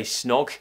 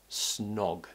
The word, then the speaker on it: snog: we tend to say snog sound and then we're cutting it out with a n sound snog the o sound requires a round shape with the mouth we slightly pull the tongue back snog snog now if something's